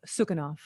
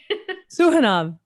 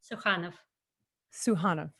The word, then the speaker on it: Sukhanov: The Dream Life of Sukhanov. I'm sorry, I said it wrong. That's okay. Sukhanov. We went over this earlier. Say it for me. Sukhanov.